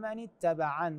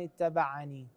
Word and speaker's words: اتبعن: اتبعن كلمه ومن اتبعا نقف عليها بنون من دون اضافه ياء يعني ما مرسومه الياء هنا فنقول اتبعا وليس ومن اتبعني ايضا في نفس هذه